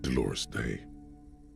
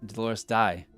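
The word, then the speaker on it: Dolores Dei: first innocence it wasn't Dolores day I hate that EI is pronounced a I never remember that I pronounce it Dolores die but that would be IE dor day okay thank God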